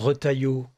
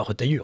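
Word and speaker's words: Retailleau: étant obligé de et et alors retaillot que vous prononcez retailleux c'est presque çaen est charmant un jour on aura le président retailleux donc à chaque fois je dirai non pas retailleux retaillo c'est pas grave oh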